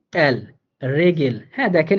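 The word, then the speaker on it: Regel: হ্যাঁ, আরো যদি বলেন রেগেল, আরো একটা বললে আর ই, আরেকটা লিখি, আরে ভাই আরেকটা বললে আপনি আর ই জি ই এল, রেগেল। হ্যাঁ দেখেন এখানে আরটাও কিন্তু র এর মতো করে উচ্চারিত হইতেছে, রেগেল, হ্যাঁ দুইটাই নাউন।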